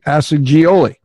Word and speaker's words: Assagioli: Roberto Assagioli. Assagioli, Italian man. With a G, Assagioli. Yes. And she met with a woman running the Psychosynthesis Center of South Australia, and that woman explained to Beverly Assagioli's theory about personality, and